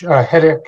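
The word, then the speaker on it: Hettich: to say is um my last name is pronounced headache h-e-t-t-i-c-h headich is the pronunciation thank you Rob and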